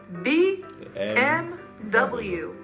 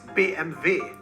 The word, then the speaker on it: BMW: you survive everybody knows it how would you pronounce this one b m w bmw but originally it is bmv dmv oh that's true actually an abbreviation and